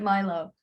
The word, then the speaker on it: Milo: we pronounce it Milo.